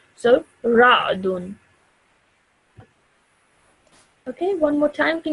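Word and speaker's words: رعد: Ra'dun. Perfect. Excellent. Okay. So previously you said ra'udun. Okay, which is wrong because you thought this was a dhamma.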